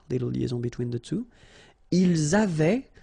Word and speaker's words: ils avaient: Ils avaient, so remember, even if we've got this A-I-E-N-T, well, we don't pronounce it, or we don't pronounce this E-N-T, so we get avait, okay, phonetically.